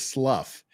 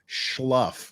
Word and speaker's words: slough: I'm saying the word is slough. He said it's schluff, like SCH, schluff. He's mispronouncing schluff, not slough.